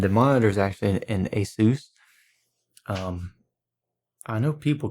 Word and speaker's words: Asus: Logitech speaker and the monitor is actually an Asus I know people call it ASIS, but actually Pronounced ASIS so it's the asus monitor if had that since 2011 I believe so it's about No, 2010.